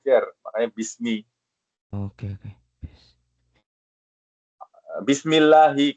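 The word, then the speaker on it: بِسْمِ اللَّهِ: Bismillahi. Kenapa dibacanya bismillahi bukan bismillahu atau bismillaha ya? Lafzul jalalah Allah ya. Allah. Ah. Ken karena dia mudof ilaih.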